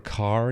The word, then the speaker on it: Kerr: kerr um or debra carr even though it's spelled kerr everybody says car i don't know why